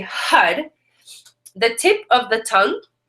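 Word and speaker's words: Har: the the Mantra H is spelled h a but it's actually pronounced h u d and HUD is also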